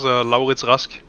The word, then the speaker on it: Laurits Rask: Yes, it's Laurits Rask, but it's There like we an go.